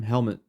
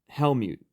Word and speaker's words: Helmut: prepared to help you apparently I've been saying his name wrong this entire time helmet it's helmet not Helm mute it's helmet sorry helmet didn't didn't I'll